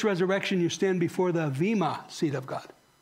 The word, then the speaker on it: Vema: First resurrection, you stand before the Vema seat of God. V-E-M-A, but it's pronounced Vema.